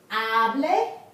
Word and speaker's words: hable: The accent is on the next to the last syllable, so it will be here.